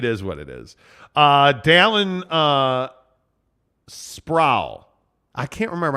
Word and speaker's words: Sproul: Dallin Sproul. I can't remember how to pronounce. I think he said Sprout with an L.